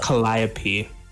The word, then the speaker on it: Calliope: It's pronounced Calliope.